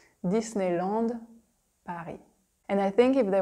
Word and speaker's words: Disneyland: we say Disney Disney we say Disneyland Disneyland by here it's like super French - there's no attempt of making it English at all Disneyland and I think if